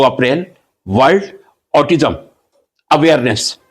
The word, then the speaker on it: autism: पहले मैं स्पष्ट कर दूं, ऑटिज्म नॉट ऑटिज्म। ऑटिज्म correct pronunciation.